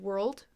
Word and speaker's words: world: it a whirl whirl so it's a little more dragged out than world world where it just kind of is all smushed in one sound world versus world if